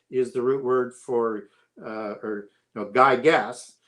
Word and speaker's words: Gyges: So Gyges is the root word for Gyges, as we would pronounce it with a hard G, is the root word for Gyges and for gigantic, and it meant giant.